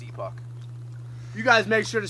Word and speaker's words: Epoch: It's pronounced Epoch.